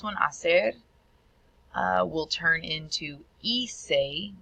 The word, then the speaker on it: hice: And then our last one, hacer, will turn into hice. Remember the H is silent.